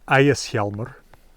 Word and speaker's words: Ægishjálmur: It certainly isn't technically a rune, called Ægishjálmur, and I'll use the modern Icelandic pronunciation because these come from pretty late manuscripts.